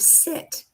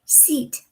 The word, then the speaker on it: sit: What happens often in many languages is that instead of the soft I, their tongue pronounces a hard E. So instead of sit, you say seat. I seat at the table.